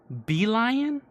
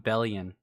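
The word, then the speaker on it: Belion: That's how you pronounce his name? Beelion? Oh my god. I've been calling him Bellion.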